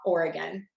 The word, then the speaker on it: Oregon: Okay, for the state, Oregon, that E is going to be a schwa, the Oregon.